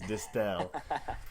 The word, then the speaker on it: Distel: It's Distel.